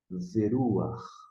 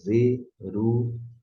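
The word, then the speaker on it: וְרוּחַ: e a pronúncia, mas a pronúncia saiba que é ru, ve, veruach. Isso que você precisa guardar a pronúncia. Não é veru, não é veru, ha, e sim veruach.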